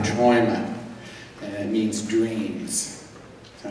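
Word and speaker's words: Träume: Our next tune, many ways, we've experimented with many different ways of pronouncing this tune. I think we've decided on Traume, and it means dreams.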